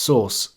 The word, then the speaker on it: src: To do this, we will use the src attribute, which is pronounced source and contains the path to the image we want to embed.